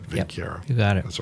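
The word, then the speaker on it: Vinckeia: mammalian subgenera Plasmodium, Lavarania, and Vincieria, however you pronounce that. Vincieria. That's what I said, Vincieria.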